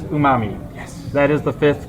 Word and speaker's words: umami: get two answers but i don't know if that's the correct pronunciation you just know from that commercial for umami i know it from reddit uh in this case you can trust reddit because the answer is umami yes that is the